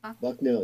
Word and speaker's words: Bucknell: see this was at the time at the bucknell university am i pronouncing that right bucknell yes it's in central pennsylvania okay um tell